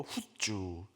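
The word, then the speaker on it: חוּצָה: 이 밖으로라는 단어를 원어로 후주라고 발음하는데요. 후주.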